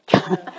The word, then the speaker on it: cumin: Pronounce it coming.